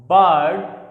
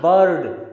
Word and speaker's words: bird: Next, duck, work, homework, farm, verse, bird, ना कि bird। इसे हम bird नहीं कहेंगे, इसे हम वर्स नहीं कहेंगे।